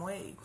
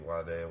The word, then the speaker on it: Wadè: Just take that action off the E and damn Wade. Right. I found you. Look, and erase the help me. But some people spell it W-A-D-A-Y. You know what I'm saying? Yeah. So, it is what it is. I take it. call me Wade, Wadè, whatever.